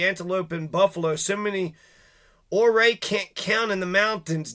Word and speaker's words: Ouray: ago Utes always had plenty this is Chief hooray hooray through right now or Ray all right we gotta say it correctly it's spelled hooray it's pronounced or Ray so just pretend that U is an r